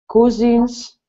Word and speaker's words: cousin: have a lot of cousins cousins nobody wants to pronounce this word correctly so it's cousin cousin cousin saw of sight from